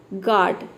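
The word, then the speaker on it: guard: अब देखिए दूसरी तरफ गार्ड, गार्ड में देख सकते हैं कि यहाँ पे डबल वावल आ रहा है, लेकिन यहाँ पे हम दूसरे वावल को प्रोनाउंस कर रहे हैं, पहले वावल को प्रोनाउंस नहीं कर रहे।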